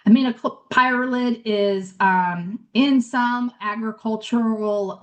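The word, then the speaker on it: aminopyralid: active ingredient herbicide class called aminoprid um or amap pyrolid, excuse me, I'm mispronouncing it and mixing up our our stuff, but amino pyrolid is um in some agricultural um products.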